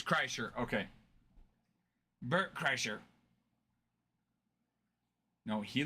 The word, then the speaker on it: Kreischer: It's Kreischer.